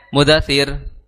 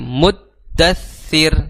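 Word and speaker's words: المدثر: situ ya ayyuha Al muddattir ya di situ ada hukum apa ee tasdid ya di dua huruf dal dan tsa jadi jangan sampai mudatir ya ayyuhal mudasir tapi muddattir ditahan Ya ditahan terlebih dahulu kemudian di akhir kata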